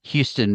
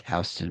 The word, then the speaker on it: Houston: Cairo, it's Cairo, and Houston Mill Road, it's Houston Mill Road, and Yeah.